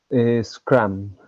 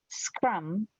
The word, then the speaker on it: scrum: The mistake is to pronounce an he S, vowel before an e vowel vowel. before the cluster.